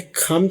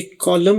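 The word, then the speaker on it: calm: यह है काम down. यहां पर एल की आवाज नहीं है। सी ए एल एम अब ये कॉलम नहीं पढ़ा जाएगा। काम एल साइलेंट होगा।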